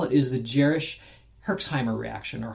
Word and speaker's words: Herxheimer: so what they call it is the jerish herxheimer reaction or hexheimer reaction is a much more specific way if